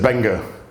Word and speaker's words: Mbenga: He said, well, you just pronounced it with an M. He says, yeah, it's silent.